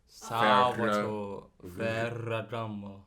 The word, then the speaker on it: Salvatore Ferragamo: Salvatore Ferragamo. No, but you got to roll the R. Salvatore Ferragamo.